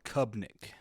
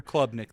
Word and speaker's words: Klubnik: One thing about them, they do have the new quarterback, Cade Klubnik, I believe is how you pronounce it. Kubnik. I don't think there's an L. There's an L.